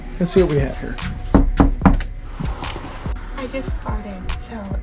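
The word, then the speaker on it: Hyères: are now at um I would pronounce it hires they would pronounce it something closer to here it is on a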